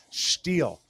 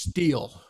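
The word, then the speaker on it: Stihl: leaf blowers but um you're mispronouncing it's steel it's not steel it's steel Ste I I double checked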